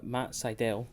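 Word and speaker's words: Sydal: now next match uh matt seidel which is how you pronounce it by the way i made a note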